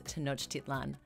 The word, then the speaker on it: Tenochtitlan: In that story, there was a mispronunciation of the Mexica capital city that they established, but it was a word that I actually knew. So to make that correction, the name of the city is Tenochtitlan.